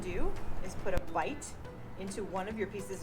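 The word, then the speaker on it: bight: More terminology, when you put a little loop like that into a piece of rope, it's called a bite, and it's spelled B-I-G-H-T.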